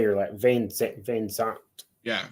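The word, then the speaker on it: VanZant: Van Zant. Yeah, Van Zant.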